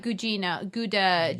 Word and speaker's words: Guadagnino: Luca Guadagnino. Yeah. Good pronunciation.